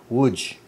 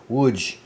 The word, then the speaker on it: Łódź: on the 10th of October, the Germans occupy Łódź. Łódź. You think I'd be able to pronounce it by now? I can send it like 500 times walking around. Łódź, I think, Łódź.